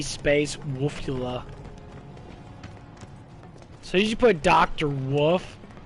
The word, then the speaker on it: Wolfula: i i just can't i pronounced it wrong wolf like dracula it's okay but yeah